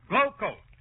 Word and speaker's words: Glo-Coat: And GLO-COAT is pronounced Glowcoat.